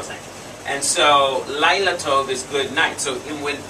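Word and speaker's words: לילה טוב: say night lila lila lilato sounds like flower right lilato okay a pretty girl's name right lyla beautiful girl thank you and so laila tove is good night so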